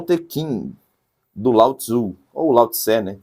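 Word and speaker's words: Lao-Tsé: Tá o Tequin do Lautzu ou Lauté, né? Tem diversas eh pronúncias. Na verdade, o mais correto seria lauté, né? Mas tem gente que fala lauto.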